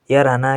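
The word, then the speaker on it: 열하나: यो पनि उच्चारणको नियममा पढिसक्यौ हामीले एल र फाम्मा आउदा लगत्तै केहि त ह आयो भने र को र उच्चारण गरिन्छ भनेर भनेका थियौ।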